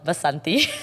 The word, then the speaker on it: Vasanti: we later found out it was Vasanti not said like that it's called Vasanthi but something is is the way that they would pronounce it and it was funny